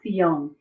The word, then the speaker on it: Zion: So Zion is pronounced Sion.